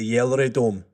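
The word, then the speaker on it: GelreDome: I've looked at the pronunciation and it is the Yellery Dome, I believe is how you pronounce it, funnily enough. Because of course a G is pronounced like a Y.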